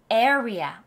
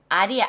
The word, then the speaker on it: area: area. 아리아, 아레아 아니에요. 자, 보세요. area.